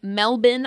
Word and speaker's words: Melbourne: Grand Prix circuit in Melbourne Australia she said it right Mel she said it correct not burn like I would have definitely said melbour 100% got to say it with the a accent melbour that makes sense